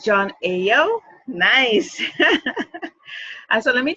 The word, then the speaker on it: Ayo: self yeah so yeah I'm here with John a oh and how did I know that his name is pronounced cuz I was going to say